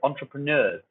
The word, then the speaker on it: entrepreneur: line to the word entrepreneurs okay this is a word that English has stolen from the frenches all that kind of interesting spelling and pronunciation entrepreneur at the end of word they're newer you might want to